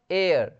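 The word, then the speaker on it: heir: यहाँ पे आप देखेंगे एयर, एयर मतलब होता है बारिश, यहाँ पे एज साइलेंट है, एज, ठीक है, एयर, एयर।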